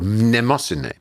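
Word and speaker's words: Mnemosyne: and one of the original females was called nemosine which is spelled m-n-e-m-o-s-y-n-e which is the greek word for memory uh you can remember nemosany by thinking of the i think of the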